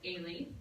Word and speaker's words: Eilidh: My first name is Eilidh. E-I is A, the L-I is Lee, and the D-H is extra.